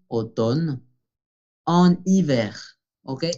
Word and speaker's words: automne: Por fonética debemos de decir en été, en automne, la M no se pronuncia, automne, en hiver.